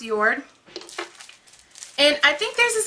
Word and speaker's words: JORD: I know it sounds like I'm saying it wrong, guys, but I swear it's pronounced JORD.